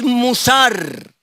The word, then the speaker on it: musar: En hebreo es musar. Fácil. La M, la U, la S, la A, la R. Transliterado. Dije transliterado al español. Ese no es exactamente hebreo. Ya, es cómo se pronuncia, se translitera. Musar.